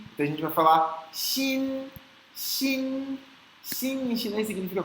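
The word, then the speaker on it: 心: se você estiver falando sorrindo, ajuda muito a pronúncia. Di, ti, xi. Então a gente vai falar xin, xin.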